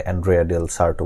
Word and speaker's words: Andrea del Sarto: আজকের আমাদের গল্পটি হচ্ছে আন্দ্রেয়া ডেল সার্টো। এটার উচ্চারণটা ভিন্নভাবে বলে, অ্যান্ড্রেয়া ডেল সার্টো বলে একজন মানুষের নাম।